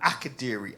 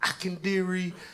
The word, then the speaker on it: Akadiri: So my name is Ackadiri. Aadiri. Seven letters, three syllables. But when they post the lineup, I be seeing Akendary. I've seen Akendari.